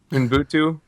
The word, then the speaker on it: Ubuntu: Sorry, how do you pronounce this, Zach? Help me out. What? Ubuntu. Ubuntu.